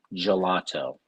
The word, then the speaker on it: gelato: gelato art of flavors yeah that's a soft g there babe gelato listen triumphant laney i